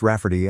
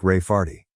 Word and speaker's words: Raferty: my sister wanting to name my niece Raferty, pronounced Rafferty and not at all like Rayardy.